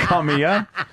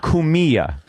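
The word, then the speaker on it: Cumia: It wasn't that. Kamiya. But it's spelled Kamiya. It's Kumia. Kumia. It means But come here in Italian.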